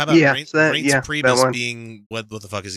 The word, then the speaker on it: Reince Priebus: Oh, how about Reince Priebus being what the fuck is he? Chief of Staff. Reince Priebus.